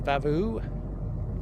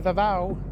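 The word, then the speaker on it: Vava'u: Well, we're saying goodbye to Vavu. How do you say it? All right, we're saying see you later to Vava. Vavu by Vava. Vavu. It's a V. It's V A V AU.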